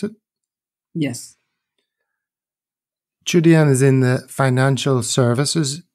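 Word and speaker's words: Qudian: term, not just on DoYou, but also on Chudian. Is that how you pronounce it? Yes. Chudian is in the financial services industry in China.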